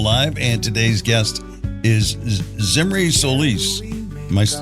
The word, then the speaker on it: Zimri Solis: walk and roll live and today's guest is zimy Solis am I pronouncing that right yes you got it very